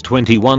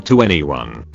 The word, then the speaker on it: 2NE1: Same way we have To Anyone, that could be pronounced as 21 or To Anyone.